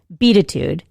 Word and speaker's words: Beatitude: the title is pronounced be itude which is connection of the words beat and attitude which is probably why